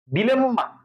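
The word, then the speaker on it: dilemma: ডিলেম্মা, বুঝো কিন্তু, আমরা বলি আম্মা, আব্বা, একইভাবে ডিলেম্মা, ডিলেম্মা।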